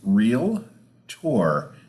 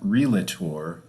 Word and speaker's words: Realtor: do you say it it is real tour not realator real Tor and real tour got it and that